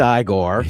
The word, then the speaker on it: Igor: And Mike does say it's pronounced Igor.